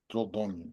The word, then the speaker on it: Dordogne: Dordogne.